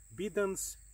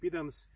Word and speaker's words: Bidens: typical tropical wheat so this is a bidance or bidens if you like it but i like more latent pronunciation bidens pilosa one of very